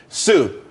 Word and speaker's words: TSU: everyone could be happy Sue TSU it's pronounced Su though that's that's a website.